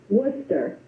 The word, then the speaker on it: Worcester: our country and I'm going to let is it will you pronounced your last name for me I'm going to butcher it Worcester Worcester see I knew I was going to